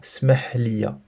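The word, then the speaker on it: سامح: Attention par contre à la prononciation. Il y a deux verbes qui se ressemblent. Donc écoute-moi, c'est le verbe entendre et pardonner. Écoute-moi, on l'a vu, c'est sma'. Sma' liya. Par contre, excuse-moi, smah liya.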